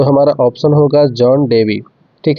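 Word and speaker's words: Dewey: इसका उच्चारण कहीं कहीं डुई भी हो जाता है, तो इसका ध्यान रखेंगे।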